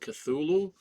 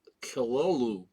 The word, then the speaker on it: Cthulhu: We all pronounce it Cthulhu, but it's actually pronounced Kilolu.